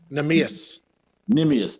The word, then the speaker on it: Neemias: Monty, the Portuguese, Neemias, I hope I'm saying this pronounced. Neemias.